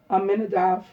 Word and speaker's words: Aminadav: N A C H S S H O N Then B E N Aminadav A M I N A D A V the Nazi of the tribe of Judah on this date.